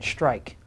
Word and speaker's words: strike: smart same ending sound write the letter that makes no sound in strike strike strike has that